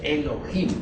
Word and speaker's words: Elohim: y dioses Eso significa Elohim o mejor dijéramos Elohim porque la H se pronuncia como J estos Elohim son como